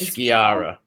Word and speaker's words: Sciarra: No, it's Sciarra. Yeah. Sciarra.